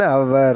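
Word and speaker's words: hour: an have an ஹவர் இதோட உச்சரிப்பு எப்படி சொல்லணும்னா அன் ஹவர் அப்படின்னுதான் சொல்லணும் ஒன் ஹவர் ஒன் ஹவர் wait பண்றியா ஹவர் தான் சொல்லுவாங்க ஹவர் அப்படின்னு சொல்லக்கூடாது சரிங்களா அதனுடைய உச்சரிப்பு அப்போ ஹச் ஓ யூ ஆர் எப்படி நம்ம சொல்றோம் ஹச் சைலெண்ட் அந்த இடத்துல ஹவர் அப்படின்னுதான் சொல்றோம் சரிங்களா அப்போ அவர்ன்னு சொல்லணும் போது நம்ம இந்த டக்குனு இங்க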